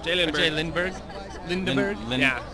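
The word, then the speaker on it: J.Lindeberg: Lindeberg. Yeah. It depends on where you live. Yeah. If it's in Sweden.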